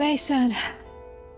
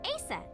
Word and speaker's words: Isis: mythology too okay but i said horace's mom is named isis but in ancient egyptian it's pronounced closer to isa or asa hmm how do i